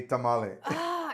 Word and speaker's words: tamal: So after I heard Black Americans saying tamale and a lot of Chicanos, I said, okay, I don't care if people say tamale. I say tamal because I have more of my mind in Mexico when it comes to food.